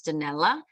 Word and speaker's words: Danelle: very different phonetically my my name sounds like Janelle in Italian it's danella no one ever gets